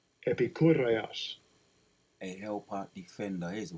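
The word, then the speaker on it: Ἐπικούρειος: G1946 says, let me hear how it's pronounced. Strong's G 1946. Epikureios. Epikureios.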